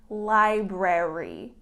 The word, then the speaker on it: library: my next word is library okay this is difficult when you have two R's together separated by a vowel it becomes a little bit of a tongue twister so the correct pronunciation is library okay emphasis on the